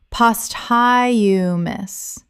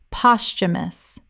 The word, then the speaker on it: posthumous: posthumous Common mispronunciation. post you miss Correct pronunciation. posthumous Three syllables with the th making a ch sound in natural speech. The h is silent. Example, the novel was published